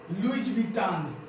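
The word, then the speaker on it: Louis Vuitton: तो ज्यादा देर न करते हुए चलिए हम देखते हैं कि इनका प्रोनाउंसिएशन कैसे किया जाता है। तो सबसे पहले क्या है, ध्यान रखिए, लुइज विटान।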